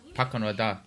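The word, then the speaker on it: Pakunoda: Pakonada.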